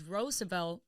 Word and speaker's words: Roosevelt: to bring this up the correct way to say it is roosevel because that's kind of